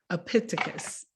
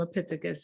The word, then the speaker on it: Epictetus: philosopher, and I'm gonna say his name right, Epictetus. It's a Greek philosopher named Epictetus, and he said, we have 2 ears and